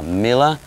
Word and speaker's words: Mille: We have Mille, did I say it right?